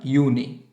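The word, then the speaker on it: Juni: বলছি ইয়ানুয়া ফেবুয়াল মাই ইউনিয়া ইউলিয়া August September অক্টোবা November December বানানটা খেয়াল করবেন একটু জানুয়ারিকে বলব আমরা ইয়ানুয়া ফেব্রুয়ারি হচ্ছে ফেব্রুয়ারি মার্চ মেয়া এখানে আউল মেয়া তারপর এপ্রিল মাই জুন হচ্ছে ইউনি আবার জুলাই হচ্ছে ইউনি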